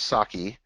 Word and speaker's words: psake: It's pronounced sake. So just like the Japanese drink, but PS on the front for PowerShell.